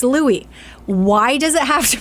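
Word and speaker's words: Luai: I saw that I'm like okay how it's Louie again how did you pronounce this and it's Louis why does it have to be spelled that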